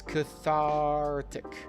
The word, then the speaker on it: cathartic: So, the pronunciation is cathartic. Cathartic.